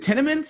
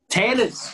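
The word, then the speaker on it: Tennent's: Isn't it in Scotland, the popular beer there, is it Tennements? Is that how you pronounce it? Tennents.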